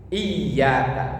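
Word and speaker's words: إِيَّاكَ: ada bacaan iyaka nabudu di situ ynya wajib bertasdid iyaka bacanya ditekan Kalau ditulis Translate Indonesia latin biasanya y-nya dua iyaka itu yang benar artinya hanya kepada engkau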